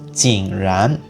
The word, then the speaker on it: Jing Ran: But since we have the third tone for this character, so again, it's Jing Ran.